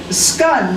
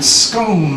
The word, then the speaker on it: scone: Scun like done. Scone like stone.